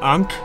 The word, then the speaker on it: Ankh: An Ankh? I think that's what those are called. Spelled like, spelled weird. It's like A-N-K-H, I think, is what it is. Looks kind of like a